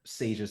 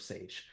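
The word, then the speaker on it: Saje: I'm hopefully not, I'm hoping that I don't butcher Sage's name. I believe it's spelled S-A-J-E, but I believe they pronounce it Sage.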